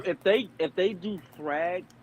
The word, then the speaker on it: Thrag: they if they do thrag throg whatever because I've heard say throg I've heard Americans say thrag I thought it was